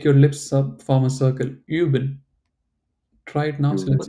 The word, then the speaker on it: üben: Üben. So say you and try to close your mouth, or maybe make this whistling. How do you whistle? Like you have to like this do this like make your lips form a circle.